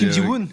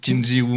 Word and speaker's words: Kim Ji-woon: Non, mais j'arrive jamais à le prononcer. Mais oui, c'est. Kim Ji-woon. Kim Ji-woon.